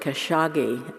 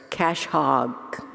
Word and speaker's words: Khashoggi: have all that money i didn't know they pronounced it khashoggi so i always pronounce it as cash hog um anyway and i think that really fits